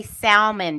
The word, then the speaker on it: salmon: Now you have to say salmon because that's Southern. Salmon. No, salmon. Say That's it how wrong, it's spelled.